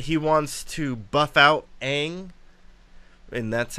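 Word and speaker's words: Aang: also said that he wants to buff out Ang and that's how you pronounce it you can look at the cartoon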